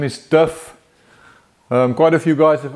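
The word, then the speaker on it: Div: We spell it D-I-V, but we say it D-I-F-F. So you can spell it either way, as long as you don't say Duff.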